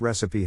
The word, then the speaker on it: recipe: To pronounce recipe, have in mind that the size of the syllable indicates where the accent or stress is. In this case, the accent is in the first syllable, corresponding to res.